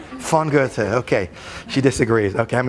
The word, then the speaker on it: Goethe: who's a german writer don't pronounce his name gothi people will think you're really poorly educated how do you say goethe properly we have someone from germany who's correct their pronunciation it wasn't that bad at least i didn't say gothi she was that bad fongote okay she disagrees okay